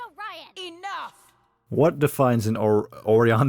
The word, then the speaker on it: Orion: You tried to steal it from us first, and it's pronounced Orion!